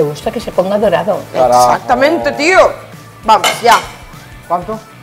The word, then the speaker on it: carajo: Ay, bueno, eso, carajo. Carajo. Así, arrastrar bien esa jota.